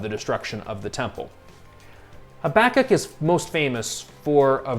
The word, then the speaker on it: Habakkuk: a few words on habakkuk and that's the preferred pronunciation at least in most english speaking circles you will hear sometimes habakkuk which is a more hebrew sounding pronunciation either is correct habakkuk is principally about